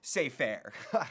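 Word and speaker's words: Cypher: Like Cyber said in The Matrix, ignorance is bliss. It's pronounced say fair.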